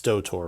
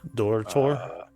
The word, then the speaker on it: Dotor: Now Dotor, it's Dotor, right? Am I pronouncing that right? Well, you can pronounce it that way. Otherwise, like a bit Dorthor, like you roll the R.